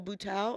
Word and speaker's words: Buteau: Michelle Buteau, I believe that is how you say her last name.